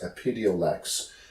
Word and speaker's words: Epidiolex: I believe it's pronounced Epidiolex, which is a CBD product specifically that can be prescribed for seizure disorders.